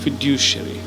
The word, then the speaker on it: fiduciary: That's how you pronounce it. Now let's look at the other word, fiduciary.